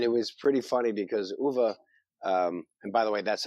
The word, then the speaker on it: Uwe: Yeah, it's UWE, but apparently that's a V sound, so Uwe.